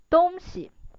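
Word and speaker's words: 东西: And if the second character has the neutral tone, 东西, the meaning of it means stuff.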